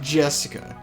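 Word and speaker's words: 朱志香: Anyways, Nah is pronounced Jessica, since she's Dad's older brother's daughter.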